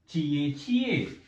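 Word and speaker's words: 姐姐: Then we have a चिए चिए. इसको हम अगर प्रोनाउंस करें, आई am going to right here चिए चिए.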